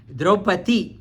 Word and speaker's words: Draupadi: Here we say Draupadi. We say Draupadi. It's a proper pronunciation. Draupadi. Drupada. Draupadi. You have to say it's for our use. We say Draupadi. The correct name in Mahabharata also it's talking about Draupadi.